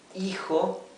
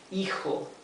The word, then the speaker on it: hijo: The H is mute. Hijo and hija for son, hijo, and daughter, hija.